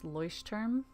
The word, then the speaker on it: Leuchtturm: It's Leuchtturm. Oh, okay. Wow, I definitely was mispronouncing it.